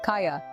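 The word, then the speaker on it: calla: consonant take the word kala be quiet the first L is silent so you pronounce it as Caya another example is Sal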